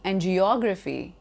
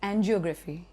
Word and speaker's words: angiography: Or maybe angiography, commonly spoken as angiography.